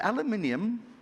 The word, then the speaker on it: aluminium: a massive producer of is it aluminium that's the proper way of pronouncing it yes or is it the other stuff aluminum you know it depends which country you are so we're here you